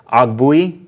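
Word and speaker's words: Ogbuehi: receiver and then they added offensive lineman Cedric OGG Booey that's how you say it they got tight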